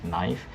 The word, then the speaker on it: knife: two Ed I use knife so knife I start with n i just ignore the K because the k sound is not pronounced it so it's never